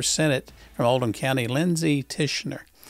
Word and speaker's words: Tichenor: from oldham county lindsey tischener it's not ticking or uh it's tish and you know lindsay